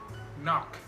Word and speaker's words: knock: K is not pronounced when it comes before an N. For example, knife, no, knee, knock, not, knowledge.